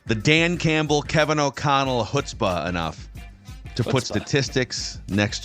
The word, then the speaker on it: chutzpah: the question is is the C it is pronounced hutzpah HSPA so the sea is silent got a